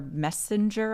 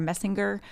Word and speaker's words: Messinger: So Alida Rockefeller Messenger, I think is how you say her last, Messinger, and Mark Dayton really flipped some things in that state.